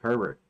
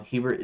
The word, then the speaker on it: Hubert: See, I put Hubert here instead of Herbert. No, Hubert is what I was. Yeah, I wasn't doing Hubert. Herbert. Hubert. Okay, sorry about that.